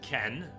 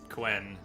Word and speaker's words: Quen: I read it as Ken. And I didn't hear enough characters in the game pronounce it Quen to get any correction for the longest time. And by the time you all started telling me it's not Ken, Jay, it's Quen, I just decided to